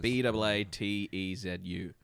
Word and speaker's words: Baatezu: How do you say it? Bezetu? Betezu, sorry. Batazes. Baatezu in second edition.